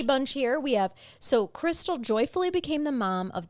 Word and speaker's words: Christale: um after several years as a dental assistant Crystal actually opened what was called Crystal's Java Hut and I should tell you her name is spelled really uniquely KR i s t y